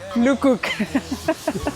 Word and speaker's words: Le Coq: El gallo sería Luk Cook. Se escribe Lecook como la marca, así que no